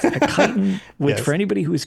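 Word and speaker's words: chitin: It's kiten, which I was going to say is possibly one of the most mispronounced words on the planet looks like kitten. Chitten. Yes, but it's a kiten, which for anybody who is curious what the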